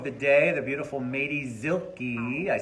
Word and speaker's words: Zilke: And I am with second show of the day, the beautiful Madie Zilke.